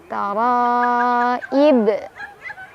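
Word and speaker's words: التَّرَائِبِ: Ada qalqalah kubro karena ada huruf qalqalah yang sukunnya karena waqaf atau karena berhenti. Yaitu huruf ba tadinya kasroh karena berhenti jadi sukun. Jadi dipantulinnya lebih besar. Taraib.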